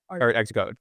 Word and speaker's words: ArtxCode: Art Xcode.